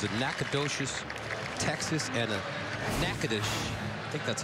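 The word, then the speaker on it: Natchitoches: it's just a production the one in louisiana you don't call it nakadoshi you call it nakanish one in texas you call it nacogdoches first down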